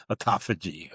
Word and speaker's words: autophagy: So when you see that PH, it's like an F, autophagy, okay?